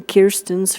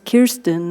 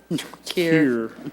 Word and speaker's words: Kirsten: It is Kirsten, not Kirsten, and so I hope we will all learn to say it that way. And then maybe Kirsten. Peggy, can I add to that once? Yeah. She did give me a clue on how to say her name. It's like beer.